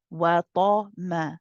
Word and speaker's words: وَطَمَعَ: But then you switch back to a light meme. Wa ta ma. Back to ma, not ma. Be careful not to say ta ma.